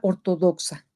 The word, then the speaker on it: ortodoxa: Fíjense cómo lo pronuncio yo. Ortodoxa, ortodoxa. Muy bien. Como pueden ver, la sílaba tónica es do. Perdón. No puede ser sa porque si no se diría ortodoxa.